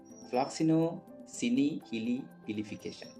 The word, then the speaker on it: floccinaucinihilipilification: ഫ്ലോക്സിനോസിനിഹിലിപിലിഫിക്കേഷൻ. Okay, this is the pronunciation of that word.